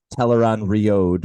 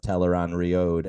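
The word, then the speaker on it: Tel'aran'rhiod: you because it makes teleron riode which is how I have to pronounce that now because of the television show it makes it a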